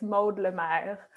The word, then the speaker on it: Maude Lemaire: Yeah, I mean, if you want to say it the real French way, it's Maude Lemaire, but Oh, Maude Lemaire.